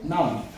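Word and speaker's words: numb: उच्चार केला आपण त्याचा नाऊन नाऊन नाऊन ठीक आहे म्हणजे सुन्न भयानक जे काही मग याच्यातला काय सायलेंट आहे बी हा सायलेंट आहे म्हणजे बी चा उच्चार होत नाही आहे तो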